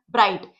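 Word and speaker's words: bright: ब्राइट ब्राइट को हमें किस तरीके से बनाना है? इस तरीके से बी के इनिशियल में आर हुक बनाया। डिप्थ साइन आई लगाया। जी एच हमारा साइलेंट है।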